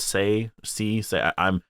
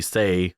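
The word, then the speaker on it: Tse: It's spelled T-S-E, so is that Say?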